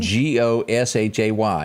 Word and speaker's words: Gautier: yeah and it's not it does not sound anything like it spelled so that's understandable things